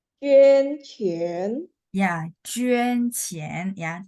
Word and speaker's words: 捐钱: 捐钱. Ya, 捐钱 ya, 捐 mulutnya setengah bulat ya, 捐钱.